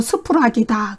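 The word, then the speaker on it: σφραγίς: 여기서 인이라는 단어는요 헬라어로 스푸락이다 그래요. 스푸락이다 그렇게 발음을 하는데요.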